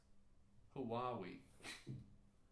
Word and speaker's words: Huawei: i Huawei Wow yeah yay you say Penna pronounced who are we ah an ad for chocolate